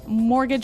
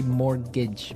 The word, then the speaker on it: mortgage: I mean, there's this this strange mortgage with a T. Yeah, it has a T in it, but you don't pronounce it. You say mortgage.